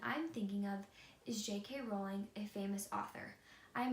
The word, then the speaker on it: Rowling: Although she stopped correcting people, the correct pronunciation of her last name is Rowling, thus the nickname the Rolling Pin.